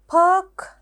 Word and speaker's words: perk: perk කිව්වොත් අපිට දාන්න පුළුවන් work වගේ වචනයක්. perk, work.